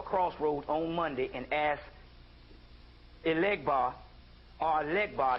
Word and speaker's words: Elegba: Because you got to put 4 pennies on each corner of a crossroads on Monday and ask Elegbar or Legbar, that's Elegbar in Yoruba, Legbar in Vodun, and you ask them for financial lead.